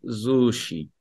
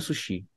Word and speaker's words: Sushi: Ich esse Sushi. Eu como sushi, tô comendo sushi. Sushi é o acusativo. Que em alemão a pronúncia é sushi, né? Sushi. Mas a gente fala em português sushi.